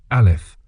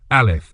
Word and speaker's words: Aleph: This letter here, Aleph, is silent.